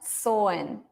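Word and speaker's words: Samhain: what was so yeah this MH is not pronounced it's silent soin so number four why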